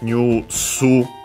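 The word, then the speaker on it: ニュース: Yeah, notice by the way that it becomes new su. So yeah, that's slightly different, but yeah, news from English, and yeah, accented like that on the first mora, new su, on the new subject particle ga.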